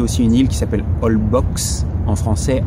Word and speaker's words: Holbox: On a visité aussi une île qui s'appelle Holbox, en français Holbox, ça se prononce Holbox.